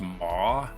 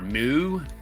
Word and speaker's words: Meaux: I think it's pronounced Meaux. M-E-A-U-X. Meaux. Or Moo.